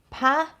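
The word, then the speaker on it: pas: tried this one john pah p-a-s encore as in um standing up for an encore and then nom which is the french for name um have you tried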